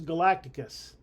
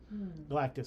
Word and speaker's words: Galactus: Marvel team up Aunt May and Franklin Richards versus Galacticus. Galactus, sorry. We say it wrong on purpose.